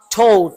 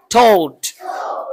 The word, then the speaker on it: thought: ঠ দিয়ে, ঠ, ঠ, ঠ সাউন্ড, ঠ, থট। কিন্তু যখন আমরা থিংকের পাস্ট ফর্মটি যখন বলবো, তখন উচ্চারণটা থ এর পরিবর্তে থ হবে। থ বলো, থট, থট, থট।